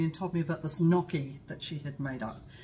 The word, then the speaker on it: gnocchi: sister called me and told me about this gnocchi that she had made up um spelled g-n-o something something looks like gnocchi but it's pronounced knocking and it is like a potato pasta why